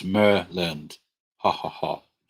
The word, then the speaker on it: Maryland: Hello from Maryland. Pronounce Merland.